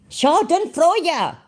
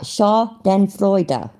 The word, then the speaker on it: Schadenfreude: So, Schadenfreude. Oh, fuck, I said it wrong. Nimrod, you really... Right, Schadenfreude.